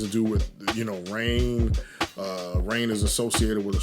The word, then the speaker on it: Raign: Rain is spelled, in my name, Rain is spelled RAIGN. So it's like a combination of brainstorm, the word brain and the word rain.